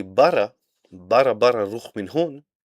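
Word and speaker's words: ברא: This is how we say in the beginning, and created is bara in Hebrew.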